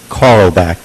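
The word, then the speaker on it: Karlebach: name can you tell me your name carlback k-a-r-l-e-b-a-c-h Carl back I'm pronouncing that correctly okay so you had read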